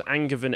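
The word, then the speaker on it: Angevin: and brother of richard who lost his father's angervan empire did i pronounce that right yeah that's the the yeah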